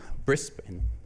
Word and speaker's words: Brisbane: for our host in Brisbane um and I've been trying to pronounce it it's brisban um yeah so got